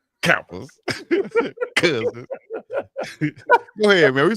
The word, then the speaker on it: Kappa: So much emphasis on the first syllable. Kappas.